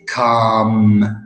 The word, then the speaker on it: calm: in a wrong way the L is not is silent so I say come so no l to say like in the